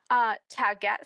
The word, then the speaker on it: Taguette: Taget spelled like baguette, but with a T.